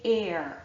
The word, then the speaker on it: heir: Honor, our, ear, and honest all begin with an H, but the H is silent. And so what we're actually hearing at the start of these words is a vowel sound.